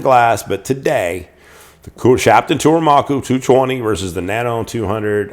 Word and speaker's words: Kuromaku: This is like Kuromaku. I think that's the name. I think that's how you say it. Oh, is it right on here? Mm-hmm. It is. There you go. Kuromaku.